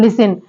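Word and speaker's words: listen: पढ़ेंगे next word है लिसन तो लिसन में यहां पे जो टी है वो साइलेंट है ओके ऐसे ही वर्ड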